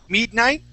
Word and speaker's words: midnight: practice the word midnight so instead of saying mid midnight let's say use a short I sound midnight Midnight good one